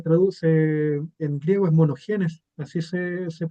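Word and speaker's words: μονογενής: Aquí en griego este término unigénito se se traduce se en griego es monogenes, así se pronuncia, o unigénito o monogénis, como de un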